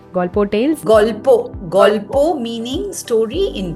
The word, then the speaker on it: Golpo: Golpo Tales? Golpo meaning story in Bengali. All right. I grew up in Kolkata, so that's why the name. So it's called Golpo Tales.